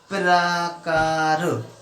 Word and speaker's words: प्रकार: अब ये रा पा के पहले उच्चारण हो रहा है या पा के बाद में उच्चारण हो रहा है? मेरे साथ साथ उच्चारण कीजिए, प्रकार, ठीक है। तो पा जो है, रा जो है पा के बाद में आ रहा है। इसका मतलब यहाँ पर पा आधा है और रा पूरा है।